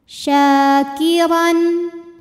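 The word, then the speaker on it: شاكرا: syin panjang dua harakat syakiron huruf d dibunyikan secara tafkhim sebab rnya ini berbaris fathah tanwin maka dibacanya tebal pangkal lidah kita dinaikkan syakiron Ron ada hukum izhar halqi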